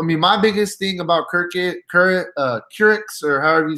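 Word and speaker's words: Kurucs: So, I mean, my biggest thing about Kurix, or however you say his name right here for Brooklyn, is Kirkus. Okay, yeah. Karukas, I'm sorry, it's Karukas.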